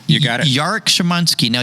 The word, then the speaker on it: Szymanski: i get it right you got it jarek shimanski now yaric in my head the way i